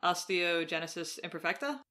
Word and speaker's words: Osteogenesis imperfecta: So just because we haven't said it, I just want to make sure I'm pronouncing it. Osteogenesis imperfecta?